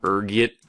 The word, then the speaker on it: ergot: There's a few different ways you can pronounce it depending on your social standing, ranging from ergot to algo. Being the disheveled popper I am, I prefer ergot.